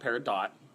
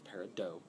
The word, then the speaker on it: Peridot: It's not Peridot, it's Peridot. I know it's spelled that way, but almost everybody mispronounces it at least the first time.